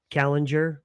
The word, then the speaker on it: Kallinger: Um Kallinger, right? Did I pronounce it right?